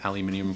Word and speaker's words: aluminium: a ball of aluminum aluminum foil i can say words aluminum it does not come with aluminium foil i think that's how they say it in denmark where the army painter guys are from uh